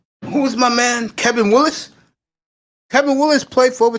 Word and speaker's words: Willis: Kevin Willis. Kevin Lewis? Willis. Nah. Willis.